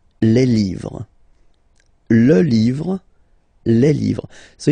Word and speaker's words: les livres: Les, and then same rule, you just write livre, and then you put S at the end, but then you don't pronounce it. Les livres.